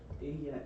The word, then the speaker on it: ella: Double L makes a. Ella. Yeah, good. All right, Pablo. Sí es muy bonita. Good. Juan Esteban. Ella es mi abuela.